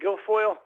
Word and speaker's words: Guilfoyle: Guilfoyle.